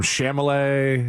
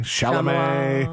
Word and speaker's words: Chalamet: You've come such a long way from Chamalet, Chalamet.